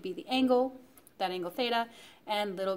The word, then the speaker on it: theta: we use as a variable for angles it's pronounced theta so that's a common variable that you'll see